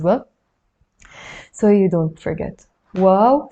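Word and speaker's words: واو: And now we will do the letter wow. It's not like wow, like something that's wow. It's wow. But if you want to remember it, you can, just pronounce it wow.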